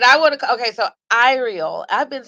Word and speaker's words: Iriel: Okay, so Iriel.